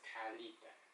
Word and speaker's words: Kalita: My name is not Cal. My name is Kalita. Kalita. Say it right.